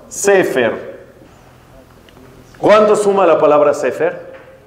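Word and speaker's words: ספר: Libro en hebreo se dice, como bien dijeron, Sefer.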